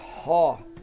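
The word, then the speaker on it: ὁ: Toda vez que tiver aspiração áspera, ele tem que ter o som. No caso aqui, ró.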